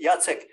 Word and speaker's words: Jacek: Jacek. If you want to pronounce my Polish first name, is Jacek.